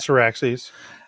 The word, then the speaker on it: Syrax: I want to say Cyrax. Yeah, I believe so. Cyrax is Mortal Kombat. Syraxes.